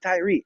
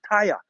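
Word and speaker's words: Tyre: America say Tyrie no don't pronounce it like that it's not Tyrie it's Tia right because when you when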